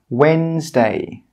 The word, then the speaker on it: Wednesday: The letter D is normally silent when it comes before N and G. Some common examples of this are Wednesday, grudge, badge. You can see here that in all of these words, we're not pronouncing the D sound.